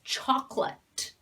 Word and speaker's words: chocolate: favorite it's favorite it's chocolate chocolate okay so in some languages people pronounce it like chocolat it is not that it's chocolate this o is completely silent comfortable comfortable comfortable so